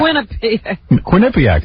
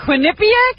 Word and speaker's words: Quinnipiac: Quinnipiac, that's how you say it. It's Quinnipiac?